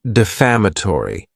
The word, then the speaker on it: defamatory: Next is the word defamatory. And this word has five syllables and the stress is on that second syllable.